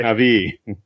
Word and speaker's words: Navi: How is it pronounced, Don? I don't speak nerd. Okay. Navi. In the Navi.